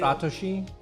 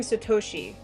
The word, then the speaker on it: Satoshi: Satoshi. Satoshi. I was saying Satoshi, which was wrong.